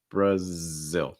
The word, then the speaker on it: Brazil: tongue zil brazil brazil also note that stress is on the second syllable brazil brazil should be the strongest part um next one china